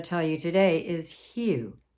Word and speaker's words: HU: And the mantra I'm going to tell you today is HU, H-U. And it's pronounced HU.